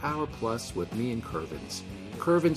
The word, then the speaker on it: Kervins: not Nene it's kervins is pronounced like it reads ke r VI ns kervins kervins and I have